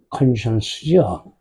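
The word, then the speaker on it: conscience: 컨션스죠. 얘를 컨사이언스라고 읽는 애가 있어요. 과학하고 비슷하게 생겼어요. 얘는 쉬 발음이에요. 쉬. 컨션스. 컨사이언스로 안 돼요.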